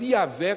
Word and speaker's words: Yahvé: nós traduzimos como Jeová, mas a pronúncia Jeová não é a provável pronúncia dessa nome que perdeu exatamente seu histórico, digamos assim. Nós não sabemos exatamente como esse nome seria pronunciado, mas Yahvé com certeza seria mais próximo.